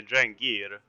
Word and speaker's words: drengr: is both i guess one drink or many dry gear that's how you say it so i was right